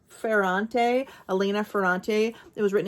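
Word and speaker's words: Ferrante: days of Abandonment and her last name is is pronounced fante Alena fante It Was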